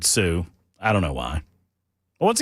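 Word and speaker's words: Sault: It's Sue St. Marie. Not spelled that way. Spelled salt, but they pronounce it Sue.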